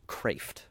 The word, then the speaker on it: Kreeft: crepes incredible and but yeah so it's again it spilled Creeft k re EFT but it's pronounced craft I think it's Swedish or something or Swiss I don't remember which so dr.